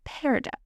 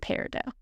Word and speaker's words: peridot: here, the T in peridot can be pronounced or not. Either way is correct. The silent T is derived from the original French pronunciation.